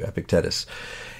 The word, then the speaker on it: Epictetus: epic deaths that's here we go Thank You epictetus and I was read a review and it